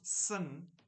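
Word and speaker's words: Seine: the river of sin pronounced sin in English not s sin isn't that interesting donning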